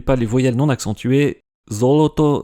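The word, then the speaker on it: золото: Zoloto se prononce bien avec des O.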